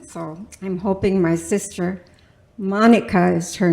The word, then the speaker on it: Monika: So I'm hoping my sister Monica is her name, with a K. So in German, that's pronounced Monika.